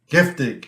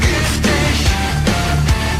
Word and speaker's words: Giftig: Giftig.